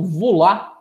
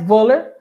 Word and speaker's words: Wöhler: Porém, pessoal, em 1828, um cientista chamado Wöhler, alguns pronunciam como Vula, né? Mas Wöhler, acidentalmente, ele muda totalmente a história da química orgânica.